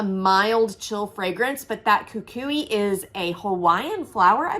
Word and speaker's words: Kukui: now I'm questioning myself I'm gonna say Kukui and coconut I'm pretty sure that's correct so I love this fragrance coconut is always a mild chill fragrance but that Kukui is a Hawaiian flower